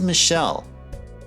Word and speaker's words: Michel: To be fair, that particular Joker, the way you pronounce the name, like in actual official French, it is Michelle.